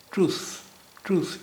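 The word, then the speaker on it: truth: یہ ٹروتھ نہیں ہے، یہ ہے ٹروث. یہاں ٹی ایچ کی آواز جو ہے وہ س کی ہے، س، یعنی ایس یا سین والی آواز نہیں ہے، س، ٹروث.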